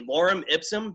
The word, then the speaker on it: Lorem Ipsum: If I pronounce this wrong, forgive me. Lorem Ipsum.